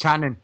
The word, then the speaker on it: Kanan: But apart from Chopper, yeah, definitely, I'm really looking forward to see how Kanan or Canon or however it's pronounced. Canon, it's Canon.